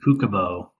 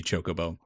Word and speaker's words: Chocobo: People pronounce it Kukubo. Kukubo? Yeah. I don't like that. I don't care for that one bit. It'll always be Chocobo. Should be Chocobo.